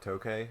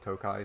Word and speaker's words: Tokay: chapter is called the Decanter of Tokay, or Tokai, depending on how you pronounce the wine.